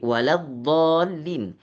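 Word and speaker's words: ولا الضالين: Waladolin ini huruf lam adalah huruf yang tipis. Jadi, Pak Imam bacanya la bukan lo.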